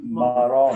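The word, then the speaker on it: marrón: Marron. marron. Marron. The accent is Marron. on the last syllable, marron.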